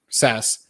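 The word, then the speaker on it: Sass: kit originally they built it out in in sas right that's how you pronounce it because there's scss and there's sas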